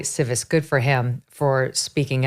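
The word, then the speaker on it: Tsives: The last name is spelled T-S-I-V-E-S. So Civis, Eli Civis.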